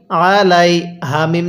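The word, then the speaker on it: عليهم: পড়বো আর সালা এরপরে আইন জবর আ লাম ইয়া জবর লাই আলাই হা মিম জের হিম আলাইহিম হ্যাঁ কিভাবে পড়বো সালা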